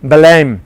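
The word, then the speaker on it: Belém: you to go to belem right Belen that's the proper way of pronouncing it I know my colleagues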